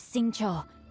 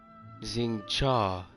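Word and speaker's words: Xingqiu: My name is Sing Cho, a humble literature enthusiast who happened to be passing by. Xing Cha. So I was saying it wrong.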